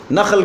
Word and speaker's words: نخل: اگر آپ اس کو خا کے ساتھ پڑھیں گے تو اس کا معنی کچھ اور بن جائے گا۔ نخل کہتے ہیں کہ اس کو کھجور کو، نحل کہتے ہیں شہد کی مکھی کو، لیکن تلفظ اگر ٹھیک نہیں ادا کیا تو نحل کو نخل پڑھ لیا، نخیل کو نحیل پڑھ لیا تو معنی خراب ہے، کچھ سے کچھ بات